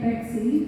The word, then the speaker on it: Bexy: I go by the name Bexy because it rhymes with Sexy, come on.